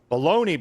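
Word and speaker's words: bologna: It's spelled not the way it sounds. Blabs. It's not B A L O N I E. Blabs. It's B O L O G N A. Bologoney.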